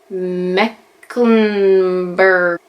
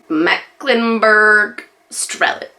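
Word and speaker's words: Mecklenburg-Strelitz: it so I apologize how do you actually say it though in English Mecklenburg Australians Mecklenburg strelitz there we go totally said that the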